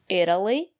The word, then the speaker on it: Italy: look at these examples Italy Italian Italy the syllable after the letter T is not stressed or pronounce the letter t as a fast de Italy I've never been